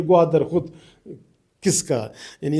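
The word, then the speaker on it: ग्वादर: बलोची नाम है ये गवादर खुद किसका यानी इसको तो स्पेलिंग करना भी नहीं आता ये गवादर बोलते हैं ये यह गवादर पर क्या होता है?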